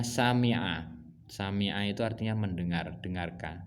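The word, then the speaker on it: سَمِعَ: Di sini ada kata kerjanya dalam kurung sin mim ain itu bacanya sami'a.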